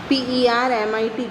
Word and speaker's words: permit: Next one इज परमिट, PERMIT, permit. Here also 2 syllables are there, permit. Okay, and the last is stressed so that T is doubled and add ED for permitted.